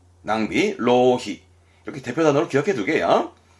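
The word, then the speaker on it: 浪費: 발음은 로히. 낭비, 로히.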